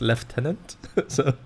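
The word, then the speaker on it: lieutenant: their eyes MK indeed you are supposed to pronounce it as leftenant being a stickler for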